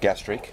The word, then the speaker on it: gastrique: Blood orange, and how do you pronounce that? Gastrique. Gastrique, ready to go.